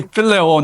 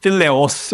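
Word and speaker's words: φιλέω: It should be phileo, not phileos or something.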